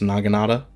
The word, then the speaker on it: Naginata: And the samurai dudes are going to be hard to kill with the Naginata, I believe is how that's pronounced, Naginata.